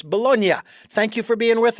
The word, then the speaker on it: Bolognia: Bolognia, thank you so much for joining us here on the program. And I know I just pronounced the G, and it's Bolognia.